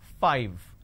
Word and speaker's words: five: I need to I need to you bite my lower lip to end the word it's five the second one is eleven so it starts with a Le win 11.